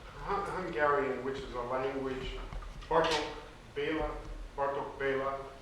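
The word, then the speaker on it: Bartók Béla: Hungarian, which is a language, Bartok Bela, the accent is on the first syllable, and so here you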